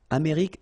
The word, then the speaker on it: Amérique: Amérique, same thing as Afrique. Amérique du Nord. Final D, not pronounced.